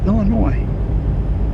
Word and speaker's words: Illinois: Uh or as it's properly pronounced Illinois. Because the S is silent for some reason.